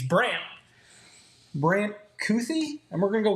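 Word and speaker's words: Kuithe: He is going to take uh there's a pronunciation. It's Brandt Brandt. Cuthy.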